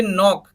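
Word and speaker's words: knock: सिर्फ night night का मतलब योद्धा फोर्थ देखिए नाक नाक के क्या हुआ ये के को साइलेंट कर दिया तो क्या बच्चा निक के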